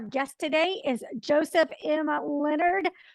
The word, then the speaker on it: Lenard: yeah and then also my last name is pronounced Leonard like we discussed before we're starting the recording it looks like Leonard it's not French it's Leonard but no o in it like the first name Leonard has a no in it